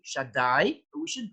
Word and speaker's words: Shaddai: God's names, Shah, and we pronounce it as Shakai, although the name is really Shaddai, but we shouldn't pronounce it in that way.